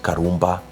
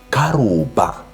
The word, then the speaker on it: Karumba: So the name, when you read it, it's Karumba. But when you read it in vernacular, it's not pronounced Karumba. It's pronounced Krowbar.